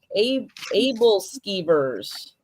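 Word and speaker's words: æbleskiver: It's pronounced Abel Skeevers. Able skeevers.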